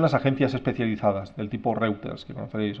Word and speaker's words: Reuters: agencias especializadas del tipo Reuters, que conocéis, o Reuters se pronuncia.